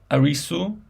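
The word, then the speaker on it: アリス: And in Japan, Arisu is Alice, because they have no this R, L, letter, L sound, so they use Arisu.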